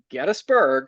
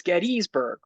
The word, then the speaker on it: Gettysburg: But before we get into it, Chris, I just want to pronounce Gettsburg the correct way. I always have to say Gettysburg because that is how you say it.